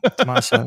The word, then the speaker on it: Tommaso: in a row, which kind of bumped up TOMMASO. Is that how you say it? TOMMASO? Yeah, yeah. TOMMASO, yeah.